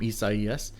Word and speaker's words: Isaias: imagery of tropical storm east ies again it's pronounced is the spanish pronunciation of the name isaiah it's a biblical name